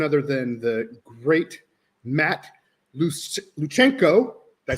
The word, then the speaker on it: Lewczenko: It's actually pronounced Lewczenko. So the W is like a V sound and the CZ is like a CH, like Czechoslovakia. So Lewczenko, and now the interwebs should know.